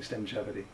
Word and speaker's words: Stemgevity: That's S-T-E-M-G-E-V-I-T-Y, Stemgevity, rhymes with longevity.